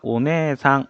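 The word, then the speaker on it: お姉さん: 자, 다음에 나오는 단어가 오네상, 언니라는 뜻의 단어였죠. 오네상, 오네에상이라고 적혀있는데 실제 발음은 네를 두 박자로.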